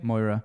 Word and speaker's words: Moira: How do you pronounce her name? Moira. She's Moira?